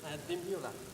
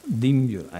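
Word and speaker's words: Dimbulah: Dimbiula. Dimbiula, ecco, avrei sbagliato sicuramente.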